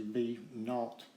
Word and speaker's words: v naught: vi instead of vo which is actually b naught is how it's pronounced you know it's a